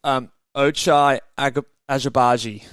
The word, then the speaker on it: Ochai Agbaji: I believe it's Ochai Agbaji.